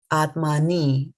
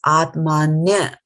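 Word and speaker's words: ātmany: Atmani. It is not atmani. You can see the difference. There's a Y here and there is an I over here, and the pronunciation is different. This is atmanya. And if you look at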